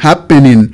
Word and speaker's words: happening: Por ejemplo, aquí tenemos happened, happened. ¿Okay? Entonces el estrés está en la primera sílaba.